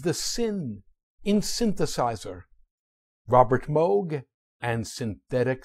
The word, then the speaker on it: Moog: fine man's surname properly it is not pronounced as moo moo is a sound made by a cow after she painfully stubs her hoof despite its double O the name is pronounced Moog as inv Vogue Moog